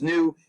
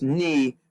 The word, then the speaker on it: nu: refer to this as new if you were in fact greek you would actually pronounce this knee but we use we